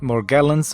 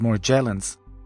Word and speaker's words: Morgellons: mentioned something called Morgellons some people call it Morgellons with the heavy G or with the soft G as more Jalen's since then I've received